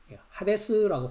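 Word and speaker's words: ᾅδης: 그다음에 뉴킹 제임스 성경을 보면 하데스라고 합니다.요 하데스라고 하는 그 영어는 헬라어의 발음입니다. 하데스라고 발음을 합니다.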